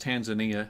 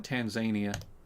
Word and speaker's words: Tanzania: See, I hate that it's pronounced Tanzania. I want to call it Tanzania. Like Tasmania.